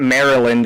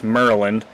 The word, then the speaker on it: Maryland: it drives me nuts it's not Maryland it's meryland and it's uh Baltimore Baltimore